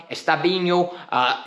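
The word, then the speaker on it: Estêvão: I'm going to call him Estevao. And the reason I can't pronounce his name is because I've heard 4 different people say it in a different way. Estevao, Estabinho, so many different variations, right?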